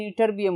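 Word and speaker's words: Ytterbium: तो लैंथेनाइड जो है वो सीरियम से 58 से ईटरबियम, स्टूडेंट्स ईटरबियम, प्रोनाउंसिएशन ईटरबियम होगी।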